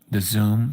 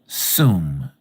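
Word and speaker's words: Tzum: The word Zoom, T-Z-O-O-M, I guess, but we spell it T-Z-U-M, excuse me.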